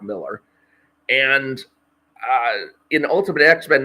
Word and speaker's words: Millar: I've said it in my head too many times as Mark Millar when it's just Mark Miller.